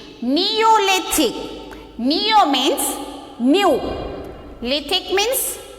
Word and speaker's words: Neolithic: So this spelling, how you pronouncing this? Mesolithic. Okay. And next spelling is there. N-E-O-L-I-T-H-I-C. Neolithic.